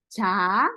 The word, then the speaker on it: 자: But when you say 자, when you pronounce not well, when you say 자, 자 is go to sleep.